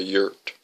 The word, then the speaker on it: yurt: in something called a yurt. That was not an acceptable option. Then he would come back to Tucson to live with her. What the heck is a yurt anyway? Luann asked. Sounds like dirt.